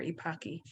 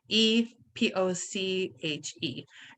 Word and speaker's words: Epoche: So just look for Epoche, Epoche. And the great way to remember how to spell it is it rhymes with hockey. Epoche rhymes with hockey.